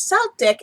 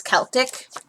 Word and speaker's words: Celtic: You know, my mom says Celtic. It's actually in this pronunciation here, it's Celtic. Because don't forget, C can sound like an S or a C, depending on what it's in front of and what the terminology is.